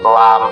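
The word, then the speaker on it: لام: Misalkan lam bukan dibaca la atau li, tapi ee nama hurufnya yaitu lam ataupun mim.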